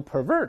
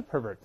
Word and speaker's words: pervert: 那我们再读一下 pervert，做动词呢也读成 pervert，动词不要读 pervert，还是 pervert，滥用、误用或者使